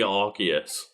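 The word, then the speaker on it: Arceus: Um, and they are sent back in time by Archus. And he gets We is it Archius or Arus now? Officially Archus.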